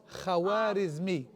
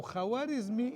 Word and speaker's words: Khwarizmi: So, al So, k h in Arabic is the kha. So, al Khwarizmi.